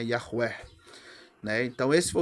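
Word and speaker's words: Yahweh: E aí vem o nome Yahvé, Yahué, né? No original, a pronúncia mais próxima que a gente tem é Yahuer, né?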